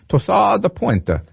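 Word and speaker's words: torsade de pointes: Torsade de pointe. I probably sounded more Italian when I said it, but it's French.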